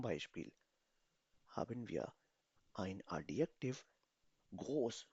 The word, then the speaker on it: groß: Oder zweimal S, दो दफा S, double S से इसको pronounce किया जाता है. So, sprechen Sie mit mir. Groß.